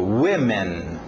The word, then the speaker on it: women: Alright, agora, o próximo objeto, vamos ver a pronúncia aí, eu explico. Women.